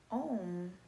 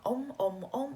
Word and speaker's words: Ohm: with you is own even though it's spelled Oh HM oh oh um when we chanted it's actually saying the lattice a you and um okay so it's not oh oh it's actually ow and the answer sounding